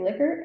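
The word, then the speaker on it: Likert: a little side note I do say liquor I had a grad school stats Professor who said he met a member of the family and they pronounced it liquor and if that's not true he has pulled the best prank of his life I mean um so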